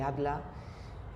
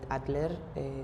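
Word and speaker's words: Adler: la psicología individual eh de atla o atler que se pronuncia más aquí en en España pues se habla de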